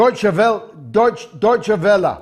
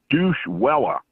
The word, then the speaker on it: Deutsche Welle: Deutsche Welle. Down there, Deutsche Welle. Down there, they call it Douche Welle.